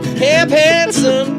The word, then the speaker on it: Camp Handsome: Camp Handsome rhymes with grandson. Camp Handsome.